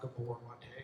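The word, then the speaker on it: Gabor Maté: you've got to, like you were talking about, Gabor Mate, is that how you say his name?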